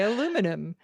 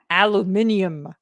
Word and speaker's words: aluminium: They're like, how do you say aluminum? And Mark says that's one of his, and I don't say it that way, but he will be like aluminium.